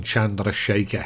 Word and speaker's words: Chandrasekhar: Now, my mate Ravi gave me a bit of schooling on pronouncing Chandrasekhar, so I'm on better ground with that one.